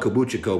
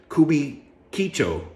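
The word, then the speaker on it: Kabukichō: uh could be Chico I call it kabuchiko but that's not how you say it's kubi kicho kubikicho right they say that's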